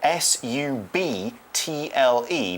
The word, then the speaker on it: subtle: an interesting word because it's spelt quite differently from how it sounds it's spelled s ub TL e but we say subtle so the bees silent and something that's subtle